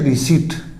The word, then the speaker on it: receipt: इसी तरह RECEIPT, इसके अंदर P साइलेंट होता है तो ये होता है, इसका अर्थ है रसीद, यानी इसको बोलते हैं रिसीट, रिसीट, ये ध्यान रखना है।